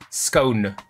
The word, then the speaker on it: scone: do you pronounce scone officially realistically the official pronunciation is scone s cone scone scone i like to annoy